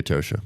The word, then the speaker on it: Atocha: The Atosha. The Right. Atosha, right? Well, I say it correctly because it was a Spanish word.